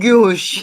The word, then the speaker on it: gouache: I've always called it like gouache or something. It's actually like gouache.